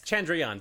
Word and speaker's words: Chandrayaan: It was is it the Chandrayaan? Yes, Chandrayaan 3.